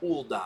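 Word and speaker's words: Ul'dah: the adventurer's guild except so it's pronounced ulda and that order just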